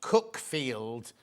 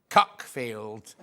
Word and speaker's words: Cuckfield: It's pronounced Cookfield, not Cuckfield.